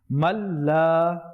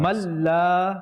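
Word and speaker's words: من لا: Here the noon is silent. So those who are watching this, we won't be pronouncing the noon here. We'll join the meme with the lam. Man la.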